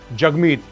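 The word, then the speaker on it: Jagmeet: दूसरी, जगमीत you know is pronounced as जग and rhymes with hug.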